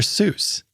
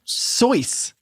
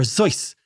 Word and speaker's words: Seuss: because it's German or zoys and it's supposed to rhyme with a voice and in fact in